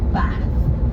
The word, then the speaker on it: Bath: things the king could say, such as bath. It's where we get the idea of King's English from. But if you do want to be historically accurate, Bath. It's much more satisfying if you say it like that.